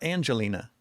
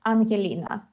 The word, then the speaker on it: Anhelina: So, so do I pronounce it Anhelina or Angelina? Uh, I mean it's Anhelina.